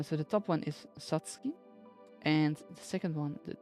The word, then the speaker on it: Satsuki: Satsuki. Saki. As you can see here, sa, tsu, ki. The tsu is regular sized, so that's why you pronounce them all three separately as Satsuki.